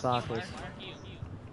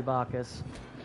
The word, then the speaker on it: Bacchus: Maybe it's because you got his name wrong. It is Bacchus. He's Roman. It's literally Bacchus.